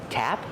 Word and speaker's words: tap: So, tap with a short a sound like apple and black cat, tap, and spigot.